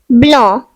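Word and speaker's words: blanc: The next French word is blah which means white. The silent letter is c.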